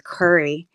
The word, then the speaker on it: Curry: Now it's spelled just like the spice, but still sometimes people mess it up.